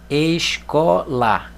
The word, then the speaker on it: escola: tem três sílabas ó escola Qual é a sílaba tônica có porque quando nós falamos a palavra o essa sílaba que é dita com mais força escola olha lá órgão Qual